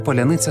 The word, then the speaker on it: Паляниця: тижні російського вторгнення слово Поляниця стало кодовим для українців через особливості української фонетики росіяни не можуть вимовити пом'якшені літери с та Л так стало простіше відрізнити